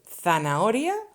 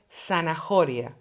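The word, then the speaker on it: zanahoria: i told you before the h is mute we don't pronounce it in spanish please don't say sanajoria okay sana oria it's mute just ignore it so that was it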